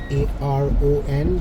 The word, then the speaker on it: Sharon: Sharon, but somehow it's pronounced Sharon. But I would pronounce that Sharon.